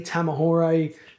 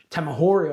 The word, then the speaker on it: Tamahori: Was Lee Tamahore Tamahori I believe it's pronounced.